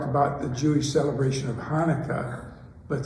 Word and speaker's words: Chanukah: celebration of Hanukkah, but sometimes you see it written Chanukah, CH. And that's kind of a peculiarity of moving from the Hebrew language to the English language. And that CH is pronounced, you hear people speaking Yiddish and you've got this strong sound in it.